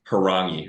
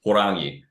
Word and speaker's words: Horangi: And I was okay with the mispronunciation, but I corrected him at one point and was like, it's Harangi, or if you want to roll it, Horangi.